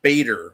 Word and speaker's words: Bader: And what a middle name, Bader. What kind of fucking name is that anyways? I mean, it rhymes with Vader, Ruth Bader Ginsburg.